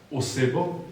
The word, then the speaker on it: oseba: And now we also have a person (OSEBA) who is essentially an OS. Slovenians say OS-E-BA.